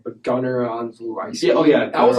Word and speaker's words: Olszewski: So that was I can't pronounce his last name, but Gunnar Onzlu. Yeah, that was like his standout game. Yeah, Gunnar Olszewski. That's how you pronounce it.